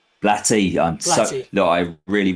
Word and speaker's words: Blatty: Directed by William Freaking and written by William Peter Blake. Blatty. Blatty. I'm so Look, I really really do apologize for my pronunciations sincerely.